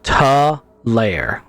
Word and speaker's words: Talair: It's Talair. TUH capital LAIR is how you pronounce it.